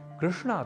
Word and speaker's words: कृष्ण: तो हमें एक तो अंग्रेजी भाषा के उच्चारण का अनुकरण करते हुए योग को योगा की तरह कृष्ण को कृष्णा यह उच्चारण नहीं करना क्योंकि कृष्ण तो पुल्लिंग शब्द है जबकि कृष्णा स्त्रीलिंग अर्थात कृष्ण देवकी नंदन राधा